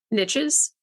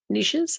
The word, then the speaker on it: niches: riches in the N niches niches actually um I know it's pronounced a couple different ways the the whole premise